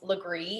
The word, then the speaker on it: Legare: um as tamara said my name is lagree it looks nothing like it's pronounced i am from charleston